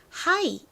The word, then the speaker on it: high: 그런데 높은이라는 의미의 하의는요 뒤에 묵음인 gh가 옵니다 gh는 무금이기 때문에 쓰나 안 쓰나 발음은 똑같지만 높은이라는 의미의 하이를 쓸 때에는